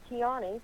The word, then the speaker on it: Tiany: So the way you say my name, it's Tiany. Tiany. And, Did I say it wrong? Tiany. Yeah, it kind of rhymes with pecani sauce.